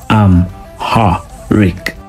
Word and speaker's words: Amharic: Their language is Amharic, which is pronounced Am-ha-rik, and it is widely spoken in Ethiopia today.